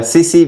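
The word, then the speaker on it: tsetse: टीसी मक्खी या सीसी मक्खी इसको बोल सकते हैं। सीसी मक्खी।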